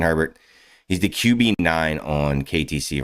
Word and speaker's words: Herbert: hands on Justin Herbert Herbert a bear um if you are a uh New Orleans Louisiana person AAR that's how you pronounce it but it's uh Justin Herbert he's the qb9 on